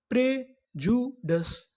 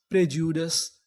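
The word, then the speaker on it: prejudice: मैं आपको बता दूं कि यहां पर जो आई है यह साइलेंट है। हमें यहां पर आई का उच्चारण नहीं करना। तो पूरी मीनिंग क्या बनी? प्रजुडस। प्रजुडस प्रजुडस।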